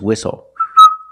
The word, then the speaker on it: whistle: We also see the silent T when you have the spelling pattern S-T-L-E.